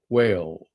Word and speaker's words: whale: the mammal that swims it's not whale it's whale there is an H in there whale whale not too muchof okay put a little put a little woof in your with your W and your H and you'll get a whale all right it's not